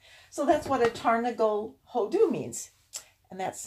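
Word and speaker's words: הודו: And it will talk about King Xerxes, or however it's translated in yours, being king from Persia to Hodu, I think is how it's said.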